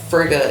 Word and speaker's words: Frigga: Frigga is my patron. How do you say it? Frigga.